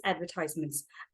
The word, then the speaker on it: advertisements: Okay, now I want to talk to you about this advertisements. When you say advertisements, the stress is on ties. That is the American English. But if you want to go with the British English, which most of us